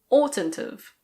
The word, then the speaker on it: oughtn't've: Ought not have becomes oughtn't've.